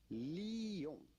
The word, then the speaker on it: Lyon: It's not Lyon, and it's not Lyon either. It's simply Lyon. Lyon. La ville de Lyon. La ville Lyon. de Lyon. The city of Lyon.